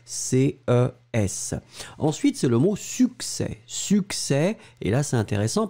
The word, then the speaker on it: succès: Ensuite, c'est le mot succès. Succès, et là, c'est intéressant parce que là, vous voyez qu'on prononce finalement ces deux C, suc, S-U-C, C-E, accent grave, S.